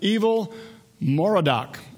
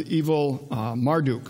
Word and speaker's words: Evil-Merodach: This was his son, Evil-Merodach. Otherwise, you can also pronounce as Evil-Marduk, same god that would have been one of the premier gods dealing with the Babylonians.